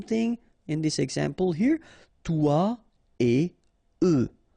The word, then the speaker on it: toi et eux: Toi et eux. Alright, so no liaison, even if it's a bit tempting, because it would be possible, but then no.